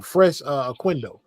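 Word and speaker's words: Fres Oquendo: No one F didn't play in Tyson, but Fresh uh Quindo, that's how you say his name.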